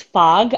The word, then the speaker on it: Fogh: your last name and i think it's fog i think that's how you say it okay but for some reason my brain always says foe so i'm like let